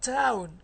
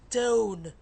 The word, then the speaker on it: tone: It's not town, it's tone, tone, tone.